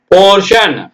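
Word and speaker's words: portion: அதோட இது நம்ம பார்க்கலாம் பிஓ or four DI o என்னங்க சன் படிச்சிடனும் அவ்வளவுதான் டியான் படிச்சிடக்கூடாது ஓகேங்களா சியான் படிக்கக்கூடாது அதனாலதான் சொல்லி இருக்கோம் போர்ஷன் ப்ரொமோஷன் இந்த வார்த்தை நமக்கு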